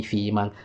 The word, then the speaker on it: freeman: And when I say freeman, you hear I'm not pronouncing the D at the end like freed.